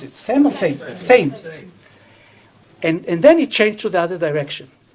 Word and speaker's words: Sejm: The Sejm, or how do you pronounce it? Sejm or Sejm? Sejm.